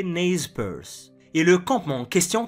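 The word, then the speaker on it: Nez Percé: Petite anecdote, même en anglais, ils sont appelés ne percé bien que prononcé naze PSE.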